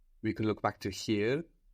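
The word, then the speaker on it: hier: and that's to stay the word for here in German is here here and this is spelled h i e r so i e gives us e where EI I gives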